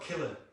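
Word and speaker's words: Killeagh: It's called Killer. Yeah, the thought has crossed my mind. But no, it's spelled K-I-L-L-E-A-G-H. And it's amazing, right?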